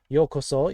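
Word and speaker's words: ようこそ: white bear well it's a polar bear and yokoso is welcome so remember welcome is the word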